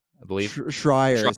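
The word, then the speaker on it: Jason Schreier: And thankfully, I think it was Jason Strayer, I believe. Schreier is how you Schreier, pronounce Jason it.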